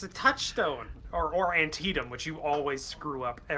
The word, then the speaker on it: Antietam: Like in a recording, you always screw up Antietam. Antietam. Yeah, it's Antietam. Yeah. Yep, Antietam. Okay. Every time though, when I used to say anti-dam. It's not even in the same ballpark.